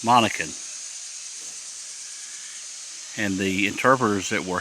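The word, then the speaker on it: Monacan: I pronounce it wrong I said Mohican but it's Monica and the interpreters that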